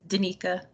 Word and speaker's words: Danika: want to mispronounce it is it dynaca or danica i know we've spoken but i don't know how to pronounce your name it's okay it's danika danica sorry that made sense